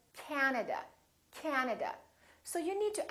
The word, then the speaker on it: Canada: and also three a's this time the first syllable is stressed this time this ah is really long so don't say canada say canada canada so you need